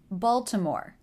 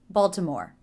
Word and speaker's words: Baltimore: two more place names Baltimore stress is on the first syllable so that should be the longest after the stressed syllable